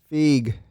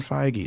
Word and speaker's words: Feige: Marvel Entertainment that's the heavens Feige fig it's not how you say it oh my god we're gonna fight about this his name is Kevin Feige dude oh it's [ __